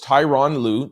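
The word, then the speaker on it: Tyronn Lue: The Los Angeles Clippers head coach Tyron Louu, that's how you pronounce it, Tyron Louu, uh, has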